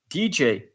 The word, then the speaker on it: DJ: the best example is DJ and some French people are pronouncing it D or D G but uh I advise to pronounce it in English because it's a DJ this so here I